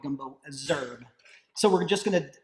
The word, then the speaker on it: Gumbo Z'herbes: john fulls he but leah she pronounces it gumbo azure so however leah pronounces it sorry chef but that's what i'm going with i'm going to go with gumbo azure so we're just going